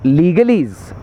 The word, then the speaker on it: Legalese: तो लीगलीज़ एक्चुअली जो वर्ड है उसकी स्पेलिंग है LEGALESE. उस शब्द का मतलब होता है वो वर्ड्स जिनका लॉ के साथ एसोसिएशन है, लेकिन उसमें वर्ड प्ले करके उन्होंने EASE कर दिया, ईज़, यानी कि ईजी कर देना.